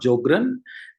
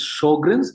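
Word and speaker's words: Sjögren's: of all it's not jogren correct pronunciation is sjogren's because in german sj is pronounced as sh this first three important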